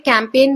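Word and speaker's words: campaign: कैंपेन में जी silent होता है।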